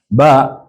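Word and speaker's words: ب: is written like this ba ba is is pronounced with that elongating sound just your lips do the do the do the work of pronunciation then we have which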